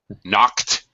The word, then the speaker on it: knocked: street when a guy knocked it knocked KN it knock it knocked knocked there you go knocked my knocked me